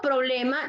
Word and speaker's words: problema: Por lo tanto, problema, ¿dónde tiene que ser? ¿Cuál es la penúltima sílaba? Última, que es ma, penúltima, ble. Entonces, la fuerza de voz la va a llevar en ble, que es la penúltima sílaba que estamos identificando. ¿Ok? Si yo dijese que es en pro, entonces yo tengo que pronunciar la palabra como problema, no problema, ¿verdad?